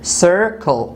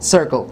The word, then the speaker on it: circle: say sir circle circle so the first c is a soft c but the second c is not a soft c it is a heart c why because and here after c we do not have these three letters we do not have i we do not have e and we do not